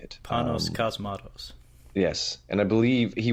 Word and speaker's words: Panos Cosmatos: Panos Cosmatos.